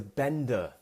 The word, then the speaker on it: bender: We would call this a bender. I could say I'm going out on a bender tonight. B-E-N-D-E-R. Bender. Remember that British pronunciation at the end?